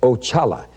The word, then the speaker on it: Oxala: Now, that was the first one I met, and that's spelled O-X-A-L-A, and it's pronounced Ochala, and he is the head of all spirits.